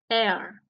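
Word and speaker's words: heir: símbolo de una vocal heredero se dice en inglés Air con esto queda comprobado que la H de los sustantivos de la segunda columna es una H muda que no produce sonido por eso en este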